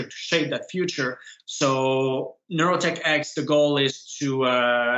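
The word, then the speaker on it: NeuroTechX: more about the organization you founded it's uh neurotek am I pronouncing that right uh neurotech X Okay so neurotech X is a non-for-profit organization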